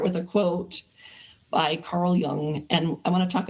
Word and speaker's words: Jung: So Carl Jung, which is spelled Jung, but it's Jung, I guess is what it's pronounced.